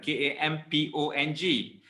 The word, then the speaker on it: kampong: K-A-M-P-O-N-G is pronounced as kampong.